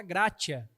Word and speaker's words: gratia: sola que é o sola gratia parece gracha né sola gratia mas é esse nome mesmo porque a gente não tem a pronúncia do espanhol aqui na nossa cultura Mas se a gente fosse tentar no do espanhol é o nome do latim né Se a gente fosse tentar no latim seria mais ou menos alguma coisa como sola grcia não sei se isso parece meio italiano também eu não sei